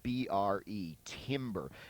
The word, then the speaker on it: timbre: It's the whole concept of timbre, spelled B-R-E, timbre. Have you ever heard that word before? You might have, and just didn't know what it was. Oftentimes you'll hear it pronounced also timbre, T-A-M-B-R-E.